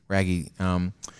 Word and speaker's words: Raggi: Raggi? Raggi.